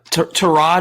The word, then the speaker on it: Tyrod: Yeah, or Tyrod, is that how you say his name? I always call him Tyrod. So it's Tyrod, apparently.